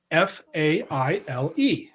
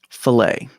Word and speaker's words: Faile: This one is spelled Faile. Filet. So I nailed it, didn't I? What I love is that Steve is trying, because it was always fail to me.